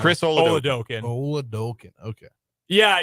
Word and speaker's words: Oladokun: Oladokun. Okay. Yeah, you can kind of say it like a really intense Minnesota accent.